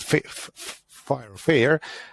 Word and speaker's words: FHIR: However, with this updated format of which is called FHIR, or we pronounce it FHIR, and it's the first step towards being data agnostic.